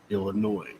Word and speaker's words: Illinois: best people and it is supposed to be pronounced illinois it's the s silent yeah i thought it